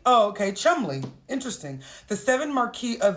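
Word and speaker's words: Cholmondeley: she's the wife of David chamond and is pronounced Chumley oh okay Chumley interesting the seven Marquee of the chumbley and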